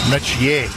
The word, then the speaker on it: Metier: Notice the pronunciation of the name. He wanted the pure family Nigerian pronunciation of the name. Metier.